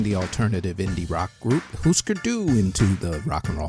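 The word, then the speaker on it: Hüsker Dü: case for putting the alternative indie rock group Husker do into the Rock and Roll Hall of Fame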